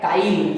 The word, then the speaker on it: chyle: मिला है, वो कंपोनेंट को बोला जाता है काइल, CHYLE। आप बोलेंगे सर स्पेलिंग क्यों बोले?